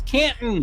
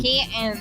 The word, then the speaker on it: Canton: not in Canton and say it right it's Canton Canton whether you are in